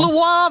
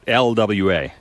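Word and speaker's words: Loire: But the L O I R E Valley is pronounced how Lu Valley. No. What is Oh, I didn't roll the R. It's not LWA.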